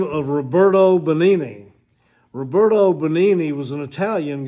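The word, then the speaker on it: Benigni: his name Roberto bonini it took me a while to find out how to pronounce it Roberto o bonini he leaped to his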